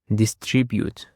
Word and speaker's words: distribute: Distribute. It consists of three syllables actually and the stress is on the second syllable.